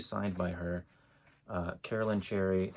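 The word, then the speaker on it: Cherryh: And you'll see it's spelled, the way Cherry is actually spelled, that's because she added the H to her name when she started publishing to sound more exotic and interesting.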